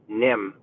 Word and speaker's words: Nghiem: I am heading to I've been saying his name wrong forever but it's NIM but a spell it NGH thing ie and I have some